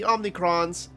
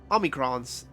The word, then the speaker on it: omicrons: meanwhile are called the omnicrons and you stand within one of our outposts how many crunch you say and what is omicrons there's no n yeah that's how you're supposed to pronounce it and what is it